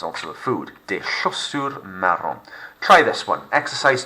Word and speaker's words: chaussures: Des chaussures. Silent S on the end.